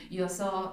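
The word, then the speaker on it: Yōzō: Y te das cuenta que desde las primeras páginas conocemos a Yoso se pronuncia, sí. Yoso, que es un niño incapaz de entender a las personas, ¿no?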